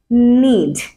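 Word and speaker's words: knee: নিড সো এখানে যে কে আছে এটাও কিন্তু সাইলেন্ট তো এটাকে আমরা সিম্পলি বলতে পারি এভাবে নিড নিড যার মানে কি গুঁড়ো বা কোন কিছুর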